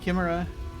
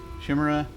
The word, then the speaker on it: chimera: for someone called the the word that many people pronounce differently i think i commented on that when i went through this before uh chimera kimra shimra my mother used to pronounce it camira um patchwork thingy he